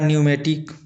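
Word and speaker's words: pneumatic: उसी प्रकार न्यूमेटिक इसका भी स्पेलिंग इस प्रकार से होता है किंतु पढ़ा इस प्रकार से जाता है।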